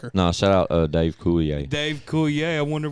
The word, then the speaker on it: Coulier: of his name and it's pronounced coulier but you spell it c-o-u-l-i-e-r yeah